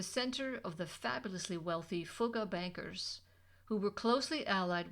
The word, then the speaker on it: Fugger: But before you dissolve into fits of laughter over the name Fugger, note that it rhymes with took, not with duck.